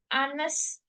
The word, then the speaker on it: honest: Jadi kalau ada honest man, walaupun dia dari H, tapi dia tetap artikelnya an honest man.